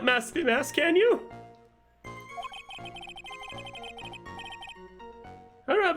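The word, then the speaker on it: Masque DeMasque: It's mask de mask. It's not mask star de mask. Truth is, I've been mask de mask all along. And it's French.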